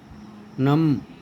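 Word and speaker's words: gnome: उसी तरह से आगे देखें अपन साइलेंट जी, तो ना एन के पहले जी हो तो इसको बोलते हैं ना, नैट, नोम, नार्ली।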